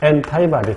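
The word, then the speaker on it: antibody: 항체는 엔타이바디 또는 안티바디라고 발음합니다.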